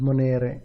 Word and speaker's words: monere: With monere, same thing, penultimate syllable.